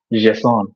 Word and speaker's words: JSON: And believe it or not, you're actually supposed to pronounce it as JSON. So put a particular French articulation to it, and that's the pronunciation of JSON.